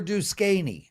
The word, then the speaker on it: Duquesne: The next game is, I believe, not for today, but Prez, how do you pronounce the opponent of Dayton? What is it? Dayton over Duquesne.